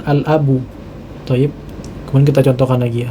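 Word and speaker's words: الأب: ini huruf lam, ya, karena di huruf lam ini kita ucapkan dengan sukun, ya, sehingga dia menjadi alif lam qamariyah, ya, jadi kita membacanya dengan al-abu.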